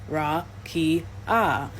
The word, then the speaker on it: rakia: In the Hebrew Old Testament, the word used for firmament is rakia, pronounced ra-ki-ah, meaning extended or solid surface or flat expanse, considered to be a hemisphere above the earth.